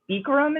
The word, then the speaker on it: Bikram: like ashtanga yoga there's beekra i think bikram is how you pronounce it but like bikram people like the amer americans say there's vinyasa which is a